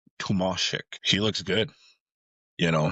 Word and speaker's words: Tomasek: David Tomasek, I guess I saw a thing where he doesn't really care how you pronounce his name, but it's pronounced Tomasek.